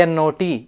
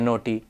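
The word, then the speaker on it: knot: each requiring unique pronunciation k n o t is pronounced not like noot silent k doubt d o u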